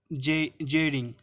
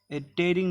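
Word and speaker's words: Tshering: और भूटान का कौन है, भूटान का है लोटाय जेरिंग, ठीक है। टेरिंग नहीं होगा, जेरिंग होगा, ठीक है। यहाँ पे टी साइलेंट रहता है, तो जेरिंग, लोटाय जेरिंग।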